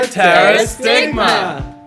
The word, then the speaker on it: pterostigma: It's a pterostigma.